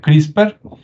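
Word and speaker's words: CRISPR: una que es crisper se escribe CR y spr y se pronuncia crisper Y usted puede investigar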